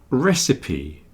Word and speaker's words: recipe: words recipe and receipt recipe the list of ingredients and instructions for cooking is called a recipe you see how we pronounce p on the end very strangely recipe and then receip receip